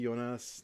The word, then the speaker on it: Jonas: Hi, Jonas. Nice to see you. Or Jonas, sorry. Jonas. You're in Canada. I call you by your more Anglo pronunciation, from Red Deer.